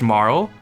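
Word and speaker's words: Marle: katakana and i was like oh it is pronounced marl it is pronounced ayla oh i gotta go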